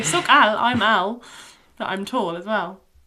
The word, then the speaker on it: alt: So, you say soc alt, I'm alt. But I'm tall as well. There we go. It's actually spelled a l t, but we don't really pronounce that last t on the end.